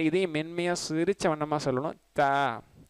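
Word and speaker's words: ت: சரிங்களா, த நார்மலாக நம்ம தமிழில் சொல்லக்கூடிய த என்பதை போன்றதான்.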